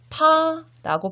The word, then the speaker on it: 他: 물론 이런 논란들도 있었지만 당시 필요에 의해서 그녀라는 글자는 여자녀 변의 이 글자로 자연스럽게 고착화되었고 지금 중국에서는 그와 그녀는 타라고 발음은 같지만 쓰는 글자는 이와 같이 살짝 다릅니다.